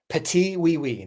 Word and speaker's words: Petit Oui Oui: Petite wee wee. Patiwei. That is that's the the correct pronunciation.